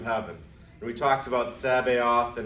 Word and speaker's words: Sabaoth: And Sabaoth and Sabbath, different words, different spellings, but sometimes people will hear Sabbath and they'll hear Sabaoth and think it's just a weird pronunciation.